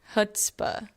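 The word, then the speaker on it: chutzpah: is h u tzp Google says to Google says HS hutzpah hutzpah it means extreme self-confidence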